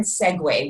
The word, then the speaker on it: segue: to the Webster dictionary the word Segway which is spelled for realz se gue it means to make